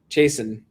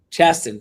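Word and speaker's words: Chasten: Uh so they were like Pete voted for Haley Stevens, but uh Chason, right? Is that pronounced Chaston? Chaston. Sorry.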